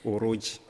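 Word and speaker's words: Orodji: qui s'écrit avec un seul O, c'est O. Oui, bon, en français, on va l'écrire O-R-O-D-J-I. Voilà. Mais en Peul, ça s'écrit 2 O au début, Ok. R-2-O, Ok. J et I. D'accord. Puisque le J en Peul, c'est Djo.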